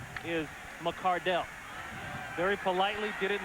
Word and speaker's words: McCardell: the Cleveland Browns I thought we used to pronounce his name McArdle and I was right we did yep well his father sent a letter to the organization saying the correct pronunciation of the name is McCardell very politely did it in the right way